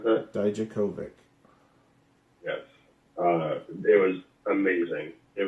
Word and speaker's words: Dijakovic: week, and yeah, it was him versus Dominic Divakovic. Is that how you pronounce that? Dijakovic.